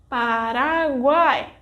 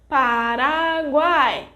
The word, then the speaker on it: Paraguai: vogal A will draw more attention, like this, Paraguay. Note that when we want to emphasize the pronunciation, the vogal A is pronounced for longer, Paraguay.